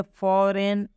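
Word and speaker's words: foreign: जैसे में फॉरेन, फॉरेन में भी देखिए जी के बाद एन आया है, इसलिए इस जी का उच्चारण नहीं करेंगे।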